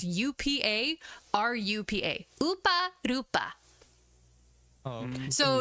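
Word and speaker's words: ウパルパ: it's Upa. So if I do like romanization of how you would pronounce it, it's UPA RUPA.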